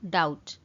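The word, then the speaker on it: doubt: ये गोटे जिनसे नोटिस करेंगे फ्रेंड्स बी अच्छी बट बीटा प्रोनाउंस कला बेले साइलेंट हो जाए तो से आम पढ़ू डाउट डाउट।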